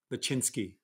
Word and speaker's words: Lachinsky: Lachinsky, that's how you say it, 20.2.